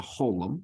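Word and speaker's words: חולם: You know that's a holum, and it's pronounced O, as in row.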